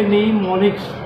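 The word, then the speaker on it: mnemonics: इसमें am silent है, एम को आप नहीं बोलेंगे, इसे पढ़ेंगे निमोनिक्स।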